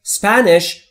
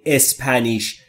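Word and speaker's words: Spanish: یعنی یعنی یاد گرفتن اسپنش یعنی اسپانیایی دقت بکنید کلمه اسپنش اولش ا نداره پس نمیگیم اسپنیش اسپنش یعنی اسپانیایی یعنی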